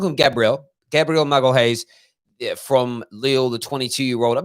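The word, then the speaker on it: Magalhães: Google Translate pronounces it like this: Gabriel Magalhaes. Magalhaes. So I'm gonna call him Gabriel Magalhaes, from Lille, the 22-year-old.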